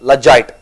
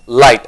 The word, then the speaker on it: light: word is light but there's g in light but g is silent there it's not logite it's light okay so take light